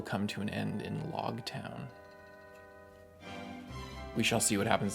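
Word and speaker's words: Loguetown: uh we're also corrected it's technically log town I guess I don't know how they pronounce it I'm probably going to end up saying log town but it's log town like the epilog and the prologue as in the end and the beginning that's I like that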